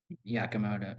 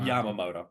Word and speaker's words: Yamamoto: Yakamoto or Yamamoto. Yamamoto, not Yako.